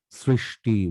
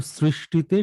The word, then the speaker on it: সৃষ্টি: কষ্ট, নষ্ট, সৃষ্টি, বৃষ্টি, কৃষ্টি, দৃষ্টি, অনুষ্ঠান, কোথাও এস হবে না। শুধু সৃষ্টিতে শুরুটা এস, কিন্তু পরেরটা এসএইচ।